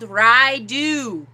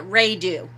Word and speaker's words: Raidho: are doing this time is called raidu or uh some people call it ray do i've heard it pronounced both ways rydoo looks like this